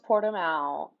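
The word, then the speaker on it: Portimão: of fact checking to do um it is pronounced portamal and it is a regular track it's not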